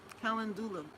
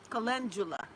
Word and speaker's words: Calendula: Calendula. Yes. Calendula. I wonder why I pronounce it wrong all the time.